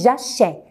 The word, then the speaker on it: j'achète: Vous devez mettre accent grave parce que si on ne met pas l'accent, on va dire achète. Et moi, je ne prononce pas comme ça. Je dis j'achète. Je ouvre un peu la bouche. Alors, j'achète, c'est l'accent grave. Je mets un accent grave sur le E avant la dernière syllabe.